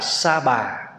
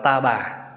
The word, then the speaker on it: Sa Bà: là tiếng Ấn Độ tiếng Phạn chúng ta đã âm cái chữ sah là sa Bà người bát độc là sa bà nhưng mà khi người miền Nam và người Trung đọc á thì đọc là ta bà cho nên quý vị hay đọc á ta bà giáo chủ hay là cõi Ta Bà nhưng mình Nếu mình đọc cái âm đúng chữ Phạn đó là sa Bà